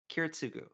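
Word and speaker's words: Kiritsugu: Keratsugu. That's how it's pronounced.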